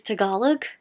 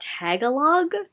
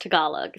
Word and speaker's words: Tagalog: I have completely mispronounced this word. It is Tagalog mythology, not Tagalog. I am very sorry for mispronouncing it. I usually do my research before filming, but I was just so tired that I didn't. But I have learned it is pronounced Tagalog, so I'm very sorry